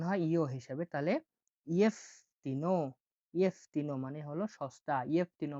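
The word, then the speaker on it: jeftino: ইয়েফতিনো, ইয়েফতিনো এখানে যেটা উচ্চারণ হয় ইয় হিসাবে। যেটা জ হিসাবে উচ্চারণ হয় না। উচ্চারণ হয় ইও হিসাবে। তাহলে ইয়েফতিনো, ইয়েফতিনো মানে হলো সস্তা।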